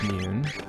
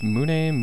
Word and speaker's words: Mune: Mune, Mune. I always said Mune when I was a kid, because, you know, I grew up in America and... the whole silent E thing and all that sort of thing.